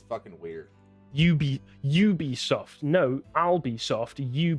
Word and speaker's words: Ubisoft: Or Ubisoft. Yeah, it is Ubisoft. We know that because they don't put AN. If they say like a Ubisoft game, they don't say and Ubisoft game. It's fucking weird. Ubisoft.